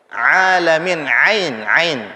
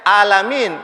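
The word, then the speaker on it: العالمين: Ain itu kalau tenggorokan hurufnya keluar dari mana? Paling bawah, tengah ke atas, ain. Tengah, ya. Huruf ain keluar dari tengah tenggorokan. Ada yang bacanya alamin. Kalau alamin berarti dia keluarnya dari pangkal, dari paling bawah, huruf A. Khawatir alamin nanti diambil dari kata alam lagi.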